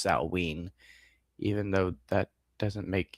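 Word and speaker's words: Samhain: Saturnalia Baltain Sam saw I always want to call it Sam Hayne, but it's technically pronounced Saul even though that doesn't make any sense to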